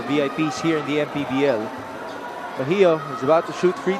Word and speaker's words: Bahio: Pero ang pagkakaalam ko po talaga, at nanggaling din sa mga magulang ko, Bahio po talaga. Bahio.